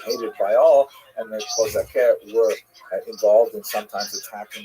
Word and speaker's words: Cossacks: Cossacks, or Kozake, to use the Ukrainian pronunciation, were basically Ukrainian peasants